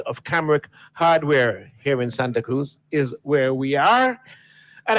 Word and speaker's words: Santa Cruz: Cruz you know yeah we give it the Spanish pronunciation Santa Cruz so here we are